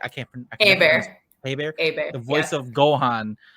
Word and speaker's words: Hebert: I can't Hebert.